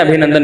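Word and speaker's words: ابھینندن: ابھی نندن نہیں ہے، صحیح تلفظ کیا ہے بھائی؟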